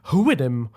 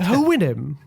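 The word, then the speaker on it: Houyhnhnm: And then there's the horses, the Huinim, I think that's how you say it, Huinim.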